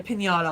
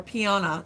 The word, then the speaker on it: piñata: really want um yeah had a a pinata or Piana is how the kids like to pronounce it Pi Piana Pi get us one of those panas pias they always say pias like pinatas they're like pasas like no that's not it very close so close panas um